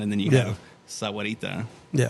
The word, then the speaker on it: Sahuarita: have sahuarita, Yeah. and some people say Sarita. Sarita. I was like, every time I hear that, I want to correct people and be like, you're missing a whole syllable.